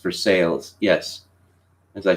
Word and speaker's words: Versailles: of academic performance yes Versailles Kentucky is pronounced for sales yes as I said